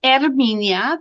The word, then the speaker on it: Herminia: The H is silent. And something you may not know is that in Spanish all the vowels sound the same. A, E, E, O, U. So my name has three vowels.